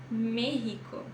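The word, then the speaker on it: México: extremo extremo extranar Tá mas existe uma exceção também quando se trata de nome de país ou de cidade aí você vai fazer o som do rr como na palavra merico merico ou a cidade ou a raca ou a raca tá então se for de país ou de cidade pode pode ler como RR Isso é uma exceção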